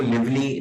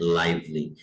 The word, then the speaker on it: lively: इसको लिवली नहीं पढ़ना, ये लफ्ज है लाइवली।